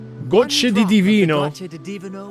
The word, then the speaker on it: gocce: Gocce di divino. Gocce di divino will let you No. rendezvous with a sentinel in your dreams. Oh, no. That's... Gocce. Gocce. Gocce. Two C's is gocce.